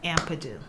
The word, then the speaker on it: Ampadu: the last name is pronounced Ampadu. Okay, Tysha Ampadu, aka Ty Turner, is a celebrity wardrobe stylist and costume designer to the stars.